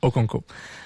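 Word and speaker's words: Okonkwo: Okunko. Voilà. C'est celui qui a aucune idée comment le prononcer.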